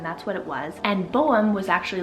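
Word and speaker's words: Bohm: this next one is the name Boam. So again, another one that totally falls into the categories I was just naming. Boam is so handsome. So it's spelled B-O-H-M.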